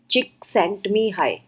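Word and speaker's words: Mihaly Csikszentmihalyi: यह जो लिखा है इसको पढ़ते हैं मी हाई एल साइलेंट है इसमें एंड यह अ चिक sent me high so again अगर आप देखें तो जड नहीं प्रोनाउंस हो रहा और यहां पे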